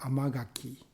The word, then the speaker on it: amagaki: The sweet pimon or amagaki in Japanese. Amma means sweet. Khaki gaki khaki become gaki as a kind of a pronunciation.